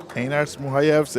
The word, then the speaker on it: Einars Muhajevs: I'm so happy we've been pronouncing his name correctly the entire time, Wise Guy. Yeah, Einars Muhajevs it is.